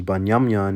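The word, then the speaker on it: בנימין: Then you have Benjamin, which is Banyamyan in the Hebrew.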